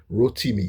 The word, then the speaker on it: Rotimi: my name is pronounced because Rotimi you have to get the uh the accent right, the inonation.